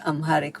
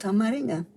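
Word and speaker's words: አማርኛ: We call it, we don't call it Amharic. We call it Amarinya. You see, it is musical. If you think Amarinya, it sounds like something like a musical chord.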